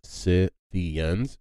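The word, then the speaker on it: Scythians: it's it's the word is s-c-y-t-h-i-a-n-s but it's pronounced si theons and they were they were a nomadic tribe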